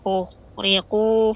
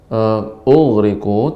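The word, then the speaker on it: أُغْرِقُوا: Mimma khati'atihim ukhriqu fa udkhilu naran falam yajidu. Ughriqu tidak boleh adanya ya, tidak boleh tapi ughriqu, dia makhrajnya ya rakhawah, ya suaranya mengalir. Ughriqu namun tebal, isti'la.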